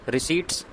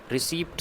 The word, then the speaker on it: receipt: रिसीट्स and expenditure. ये शब्द है रिसीट, RECEIPTS। रिसीप्ट से नहीं है, पी साइलेंट रहता है।